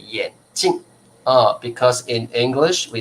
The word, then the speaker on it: 眼镜: passy知道2片好眼睛跟眼睛的发音不一样啊眼 OK 好来老师念给你们听吧来这个叫眼镜 4声眼镜这个叫眼睛 1声的眼睛 first stone 眼睛这个叫眼镜4声的啊4声的眼镜眼睛啊 so totally different 好好的要见哦好好的那这个各位同学因为呢我们英文哦英文是说glasses but in chinese we say 眼镜啊眼镜啊眼镜啊好 okay